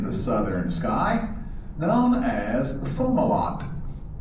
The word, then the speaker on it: Fomalhaut: star hovering in the southern sky, known as Fomalhaut. Right there, almost directly in front of us. Looks like Fomalhaut, but it's actually pronounced Fomalhaut.